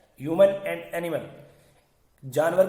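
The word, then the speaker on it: djinn: अब यहां थोड़ा सी एक चीज हो रही है, जिन, ये शब्द आप देखिए थोड़ा सा, ये शब्द है जिन, DJIN, जिन, या डी साइलेंट है, pronounced जिन and variously spelled as genie, genie, genie, genie, genie.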